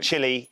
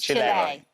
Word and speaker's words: Chile: So I was told specifically by the English-speaking South Americans that I was saying it wrong and I needed to call it. It's not Chile, it's Chile.